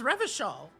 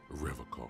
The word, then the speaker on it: Revachol: You said Revachol? I like to pronounce it the hard way. The old way. The Vespertine way.